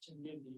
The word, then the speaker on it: Changezi: Chengzi? you want to give us the pronunciation for, is it, yeah, It's Changezi, it's Changezi. from, Genghis Khan name is Changezi, Oh.